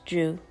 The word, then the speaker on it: Dreu: The word Dreu comes from the Latin root word duru, which means to be firm, solid, and steadfast. A one-syllable name that is easy to pronounce and remember.